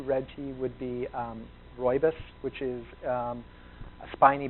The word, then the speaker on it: rooibos: it looks like rooibos r-o-o-i-b-o-s is spelling it's pronounced roybus um the republican team was the first company to bring roybus to the domestic market basically we found people had no idea what is ruibos how do i say it so we just